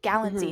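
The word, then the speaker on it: Galitzine: like a little song she's like oh Nick galline like magazine and that's the only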